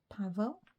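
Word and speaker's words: Paweł: if it's pavl or pow it's some it's European isn't it polish or something p a w e l is the W pronounced like a V I think it might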